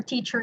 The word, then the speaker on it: teacher: So the spelling of teacher has an ER in the end, but then since the E for teacher is pronounced using a schwa here, you will transition from the word teach, from the ch sound, straightly or directly to your sound.